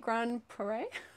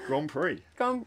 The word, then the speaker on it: Grand Prix: It is a vintage 1997, how do you say it, Grand Prairie? Oh, I like the way you pronounce that. Everyone gets that's, up everyone gets up me for pronunciation. No, it's me. Grand Prix.